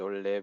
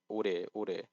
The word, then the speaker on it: 오래: I don't know if he actually thought he said ole, but ore.